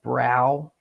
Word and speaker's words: Brough: How would you pronounce that? You would pronounce it like brow, right?